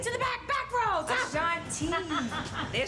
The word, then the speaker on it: Ashanti: No detail was overlooked, right down to Ashanti's toes.